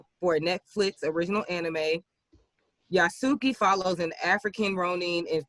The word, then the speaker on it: Yasuke: Yasuki follows an African Ronin in feudal Japan with magic and mechs. So, I will say that I think it might be pronounced Yasuke. Okay. Like Yusuke, but Yasuke.